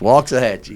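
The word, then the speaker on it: Waxahachie: to say it Ed Ed's been saying it for years we're going to waxah Hatchy bro you got to say it right it's walks of Hatchy so there you go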